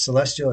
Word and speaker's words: Celestyal: may not uh it's it's Celestial it's spelled with a Y instead of an I um and uh they